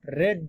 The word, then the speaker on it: read: Spelling same रहेगी लेकिन pronunciation change हो जाएगा। रीड, रेड, बट स्पेलिंग तो तीनों में सेम, बाकी अदर फॉर्म्स में चेंज होती है।